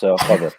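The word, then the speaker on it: قدر: Yeah, it's Qadr. Yeah, so it's definitely Qadr.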